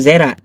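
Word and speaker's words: זרע: Bacanya Zera.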